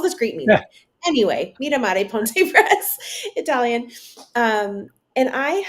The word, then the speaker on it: Mira Mare: It's on stickers, people like, so Mira Mare would be the very English way. Mira Mare Ponte Press.